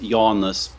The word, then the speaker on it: Jonas: by my middle name which in Lithuanian is pronounced Yanis but it's uh it's spelled like Jonas so like you can